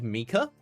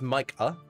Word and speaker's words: Micah: I'm used to seeing that as like Mika, but if it's Micah, I'll I'll try and remember that.